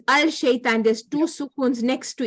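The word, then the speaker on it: الشيطان: Because it's al-shaitan, there's two sukuns next to each other. Yeah, that's right. Okay, and because the lam is silent because it's a sun letter.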